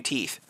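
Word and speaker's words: teef: They're just constantly losing and growing new teeth. Teeth. Yes, pronounced teeth.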